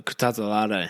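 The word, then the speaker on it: Kutateladze: Kutatalade.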